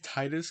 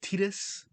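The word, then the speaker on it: Tidus: They I'm going to say Titus because that's how I pronounced them playing through and didn't find out later till didn't find out till way later that it's pronounced Tetus.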